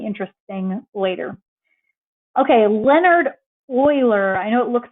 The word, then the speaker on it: Euler: about this compounding interest thing later okay leonard euler i know it looks like it says euler but you pronounce that euler um he did the most significant work with this number around 1750.